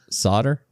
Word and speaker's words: solder: But the extra we take that L right out of there.